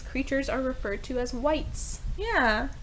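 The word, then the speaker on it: wight: are referred to as whites yeah not spelled like the color or the shade w i g h t white I got the Shivers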